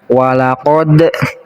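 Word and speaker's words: وَلَقَدْ: Di sini ada dal yang disukunkan, namanya ini qalqalah. Cara baca qalqalah itu harus dipantulkan. Walaqad.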